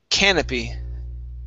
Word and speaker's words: canopy: The stress is at the very beginning. Canopy.